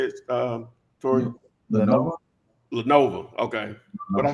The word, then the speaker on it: Lenovo: You can get an HP or Levino. Is that how you say it, Tori? Lenovo.